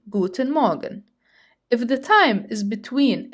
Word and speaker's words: Guten Morgen: Good morning would be the famous Guten Morgen, Guten Morgen. Pay attention to the pronunciation because I hear many German learners who say Guten Morgen. Notice that the R is silent.